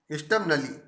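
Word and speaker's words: stubbornly: Said Nishad स्टबनली, स्टबनली, स्टबनली are silent है।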